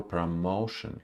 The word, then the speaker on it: promotion: pro her promotion promotion it's unstressed first syllable here her promotion here from her promotion